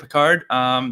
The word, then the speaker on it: Picard: but my Twitter account is pick a card, any card. It's kind of difficult, but it's that's cool. Yeah, PIC_ and then a card and then NE card. So it's kind of and Picard is spelled like Captain Picard, right?